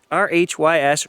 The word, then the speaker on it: Rhys: says the kid's name r-h-y-s rhys apparently that's how you pronounce it i had a bunch of people tell me that like reese's pieces rhys r-h-y-s and it